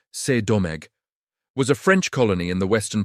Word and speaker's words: Saint-Domingue: Saint-Domingue, French pronunciation C'est-Domingue, was a French colony